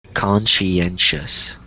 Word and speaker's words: conscientious: this is conscientious yes so the the TI and then kind of SE or all the sh so one more time conscientious conscientious there you go